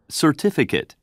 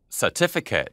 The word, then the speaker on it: certificate: certificate, certificate, 약간 틀리지 않아요? 영국식하고 미국식이. 그래서 알 발음이 되게 부드러우니까 이 받침에 알이 빠지면서 소리가 되게 딱딱해지는데 다시 한번 들어볼게요.